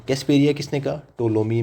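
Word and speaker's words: Ptolemy: जिसको हम बोलते हैं टोलोमी। पी इसमें साइलेंट होता है। सो टोलोमी।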